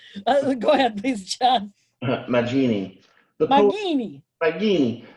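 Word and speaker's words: Maginni: Magini. The hard G.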